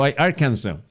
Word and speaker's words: Arkansas: Kakaibang pronunciation, Arkansas. Pag binasa nyo yan, literal, Arkansas. Pero ang pronunciation po ay Arkansas.